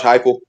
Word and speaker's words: Heupel: But as coach, I think it's Coach Haple. How do you say his name, BRL? Josh, talking about with Tennessee? Yeah. Josh Heupel.